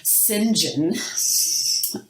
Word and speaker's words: St. John: John er as as I found that it's pronounced in the British Sinjin I don't know I